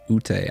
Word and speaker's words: Ute: vacation in Colorado, and Ute, I believe it's pronounced Ute, is like the tribes, the Native American tribes that are out there, and they have a lot of flute music.